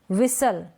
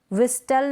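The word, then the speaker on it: whistle: ये क्या है, इसको हम पढ़ेंगे शेवरले, क्या पढ़ेंगे, शेवरले, शेवरलेट नहीं, शेवरले। विसल, विस्टल नहीं, विसल।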